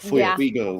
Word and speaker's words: Feuerriegel: But it also as well in Germany, it's a German name, or Prussian when it goes back like to Prussian days pre-Germany. They pronounce it differently. It's like Feuerriegel or something like that.